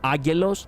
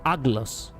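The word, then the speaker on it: Aggelos: I love how when they say Ageloi, they say it correctly, but when they say as one, instead of calling them Agelos, they call them Aglos. It sounds like actually they are actually saying Aglos, which is completely wrong,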